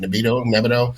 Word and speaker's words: Nebido: There's also, like, even for TRT, there's Nebido, that's how you say it, Nebido.